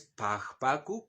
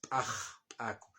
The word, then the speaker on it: p'axp'aku: Y la pronunciación no es pajp pacu, como dijo el racista, ¿no es cierto? Es paj explosiva. Aquí la X paj pacu, no pp pacu.